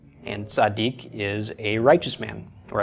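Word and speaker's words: צדיק: And this is pronounced, got the tsa of the tzadi, the a of the patach, D of the dalet. Chirik plus yod is a long E sound, which usually is transliterated as just an I. And then the K or the Q of the kuf. So tzaddik.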